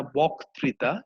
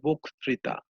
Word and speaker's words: বক্তৃতা: ঠিক তেমনি ভাবে আমরা বলি না বক্তৃতা, এটা হবে হচ্ছে বক্তৃতা। আমরা বলি না বন্যা, আমরা বলি হচ্ছে বন্যা, এটা হচ্ছে শুদ্ধ উচ্চারণ।